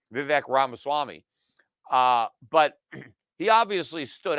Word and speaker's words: Ramaswamy: off and I'm talking about Big Rob assault rabbit Swami I said mispronouncing uh his name Vivek ramaswamy uh but he obviously stood out on that